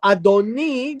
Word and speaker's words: adoni: that would would be adoni so adoni just a a slight change in pronunciation of the last syllable Adonai refers to God adoni refers to anyone but God and so the mocking